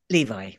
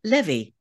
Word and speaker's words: Levi: right I said it Levi right the author decided and sent to the publisher after I'd finished recording a pronunciation list with it pronounced Levy Levy that's what I thought